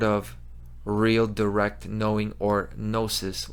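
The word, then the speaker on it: gnosis: real direct knowing or nosis which by the way the g is silent that's a g-word that's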